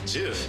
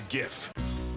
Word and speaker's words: GIF: It's pronounced Jif. You cannot outrun a zebra. Here's to good-natured civil debates. Also, it's GIF.